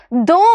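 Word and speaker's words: दो: ദോ എന്നാണ് പറയുന്നത് അല്ലെ ദ എന്ന് പറയുന്ന ശബ്ദത്തിന്റെ കൂടെ നമ്മൾ എന്ത് ചെയ്തു ഓ എന്നുള്ള ചിഹ്നം നമ്മൾ പ്രയോഗിച്ചു അല്ലേ ഓ എന്ന് പറയുന്ന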